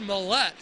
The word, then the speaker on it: Millette: UC game are listening, it is pronounced Millette. Sebastian Mallet, not Mallet. He is Canadian, so you need to put that Canadian tone to it. That little French-Canadian accent.